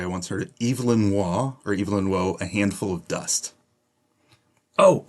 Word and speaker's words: Waugh: Number 2, and I'm going to pronounce this the British way. I once heard it. Evelyn Waugh, A Handful of Dust.